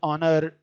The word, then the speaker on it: honor: Words honor, honest, and air begin with a vowel sound. Is the initial consonant H is not pronounced.